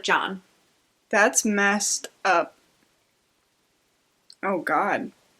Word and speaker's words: Can: His first name is C-A-N. And it's pronounced like John.